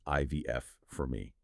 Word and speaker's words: ivf4me: That's pronounced IVF for me.